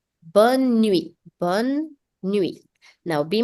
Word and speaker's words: bonne: In the night, to wish good night to someone, you say bonne nuit. Bonne nuit. Now be mindful, you will not pronounce the last E of bonne.